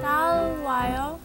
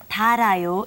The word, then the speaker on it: 달아요: 더워요. 더워요. Oh, I'm sorry. I can't give you points for that one. Okay, see, it's the pronunciation. Close. You were very close, but it's 달아요.